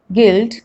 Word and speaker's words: guild: U is not pronounced when it comes after G and before a vowel. Like in these examples, guess, guest, guild, guilty, guitar, guide, guidance, guard, and even dengue.